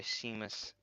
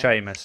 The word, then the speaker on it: Seamus: Storm on the island by Seamus Haney. I think that's how you say his name. Sheamus. Sheamusy. Sheamus. Oh, yeah. I should know that one.